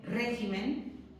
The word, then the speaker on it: régimen: En el caso que os he dicho, por ejemplo, de régimen, cambiamos la sílaba tónica.